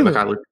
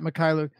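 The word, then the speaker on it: Mykhailiuk: Yeah, Mikhailuk. I think it's Mikhailuk. I think you're right. It is. It's got to be HAI Mikhailuk.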